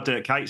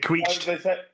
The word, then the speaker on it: Dirk Kuyt: I can't remember what FIFA it was, but it was before Dirk Kuyt signed for Liverpool, and whoever the commentator was. I was just going to say Dirk Kuyt. Yeah. Pronounced it Queeched.